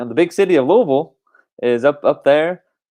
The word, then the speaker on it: Louisville: watch from all over the country it is pronounced louisville louisville louisville so we will the rest of